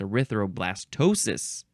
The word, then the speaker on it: erythroblastosis: arthr blast no erythroblastosis I thought it was Aristo erythroblastosis no it's erythroblastosis noun from Circa 1923 abnormal